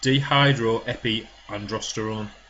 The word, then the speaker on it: dehydroepiandrosterone: And also, when cortisol is high, you cannot produce DHEA, which stands for, and I think it's pronounced, dehydroepiandrosterone.